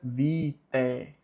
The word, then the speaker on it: vitae: Porque o A, quando vem junto com o E, a pronúncia dele é muda, então fica vitae.